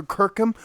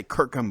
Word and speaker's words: Kirkham: 5, done by Tyler Kirkham. Oh my God, yes. Let's go. And I always say his name wrong. I say Kirkham, but it's really like Kirkham because it's got the ham at the end.